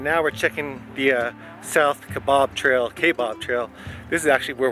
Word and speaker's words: Kaibab: Alright, now we're checking the South Kaibab Trail. This is actually where we're going to start our hike tomorrow. South Kaibab, down to North Kaibab, and then most likely back.